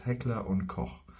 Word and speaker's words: Heckler & Koch: So yeah, Koch might be difficult for you, but just for you, if you wanna brag in front of your friends and be like, yeah, no, I actually know how to pronounce this. It's Heckler und Koch.